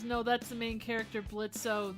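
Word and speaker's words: Blitzø: Logan says, no, that's the main character, Blitzo. The O is silent, sister.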